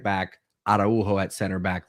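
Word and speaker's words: Araújo: we'll see Kunde at right back, Araujo at center back, like we typically see in the Liga.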